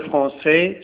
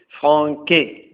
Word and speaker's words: français: on va donner un exemple il apprend le français sur Internet normalement on doit dire franqu mais la CDI rend la prononciation de la lettre C malgré la lettre